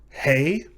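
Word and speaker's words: הא: Hey. It is pronounced like the letter H in hay or house, or the W and H in who, and so forth.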